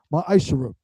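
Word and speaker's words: מעשר: You can find this in numbers 18 and 21 and Malachi chapter 3:es 8-10 means 10th in Hebrew and is pronounced maisher 10% of every penny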